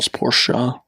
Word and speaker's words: Porsche: Porsche in the studio it's two syllable Porsche por Porsche okay so actually so